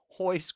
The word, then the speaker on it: Royce: Hoist Gracie is not spelled Royce Gracie. Yes, it is. It's spelled Royce, pronounced Hoist.